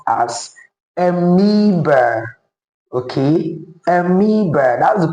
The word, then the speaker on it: amoeba: That word is actually pronounced amoeba and not amoeba.